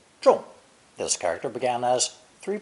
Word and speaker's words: 众: Pronounced fourth tone, 众, 众.